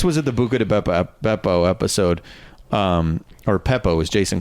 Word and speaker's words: Beppo: Bucca de Beppo. B. B, not a P. Where did you get Peppo?